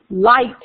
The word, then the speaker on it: light: right when they're together at the G light is really l i t well really phonetically it's just lit right oh Lord that's that's all that is light well actually phonetically is L AI T but those of you